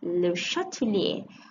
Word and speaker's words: Le Chatelier: the chemical equilibria correctly okay that's how you pronounce it okay le chatelier okay so lucha de lesney is a french